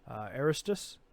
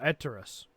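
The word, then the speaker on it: Etraeus: Okay, N'Zoth unleashes darkness over Azeroth as foreshadowed in the Nighthold raid encounter with Star Augur Aristus. Is that how you say his name? Oh, Eterus.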